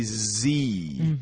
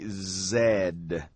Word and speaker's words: Z: is interesting because in American English we say Z XY Z in British English they say Zed that's right but in